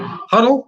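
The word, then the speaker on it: Hodel: And we've also got Fiddler on the Roof, where you played Huddle. Is that how you pronounce it? Huddle?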